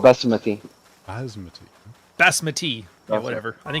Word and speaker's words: Basmati: a b it's called sorry how do you pronounce it it's called Basmati Bas basti yeah whatever I think you guys